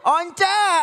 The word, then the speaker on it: Once: Once. Once. Udah gitu apa? Responnya ngotot. Itu bacanya Once. Kamu gak tahu kan? Once mam, dia orang Manado bukan orang Inggris.